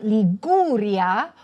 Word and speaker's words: Liguria: You say, for example, Friuli-Venezia GIULIA. But you would say LIGURIA, with a hard sound.